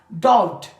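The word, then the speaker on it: doubt: उसके बाद हमारे पास डाउट I have डाउट ऑन यू यहां पे बी क्या है हमारे पास साइलेंट है डॉट मींस शक फिर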